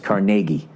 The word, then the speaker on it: Carnegie: it's Carnegie Hall and when you're in Pittsburgh it's carnegi all right when you're